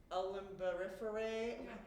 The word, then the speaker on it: Umbelliferae: When you see their flowers, I can't pronounce, it's like umbelliferae. Is that right? Yeah, umbelliferous, basically like umbrella.